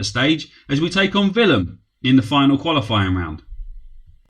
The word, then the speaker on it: Willem: I presume it's pronounced Willem. Most European sides pronounce their W's as V's, so that's what we're going with.